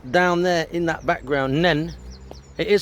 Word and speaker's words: Nene: by the way, the Nen Valley, not the Nene Valley like I've said beforehand. So it's Nen Valley. It is spelled N-E-N-E, but it's pronounced Nen or Nin if you come from Peterborough area.